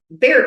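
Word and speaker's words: Bexar: That is not how it's spelled. It has an X in there.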